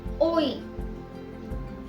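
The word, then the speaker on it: hoy: लेकिन जब भी इग्रिएगा किसी भी वर्ड के एंड में होगा तब उसे ई प्रोनाउंस किया जाएगा, जैसे ओई, रेई।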